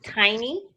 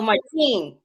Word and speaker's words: Martine: yeah, but it's actually, Oh, Martine. yeah, Martine. So it's yeah. So and Oh, not tiny, but.